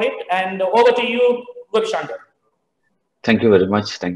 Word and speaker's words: Gobishangar: And he is none other than Dr. Srikanthan Gobikrishna. Gobishangar. Gobishangar, sorry, I mispronounced.